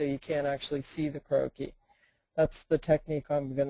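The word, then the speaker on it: croquis: you know Google the word croaky that's spelled c r o qu i s or fashion croaky um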